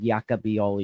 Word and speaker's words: Jaka Bijol: Uh Sky have just pronounced it bivval. I believe it's be all man. I spoke to Nick who's from Slovenia and he said yaka behol. Yeah, he said you've got it right.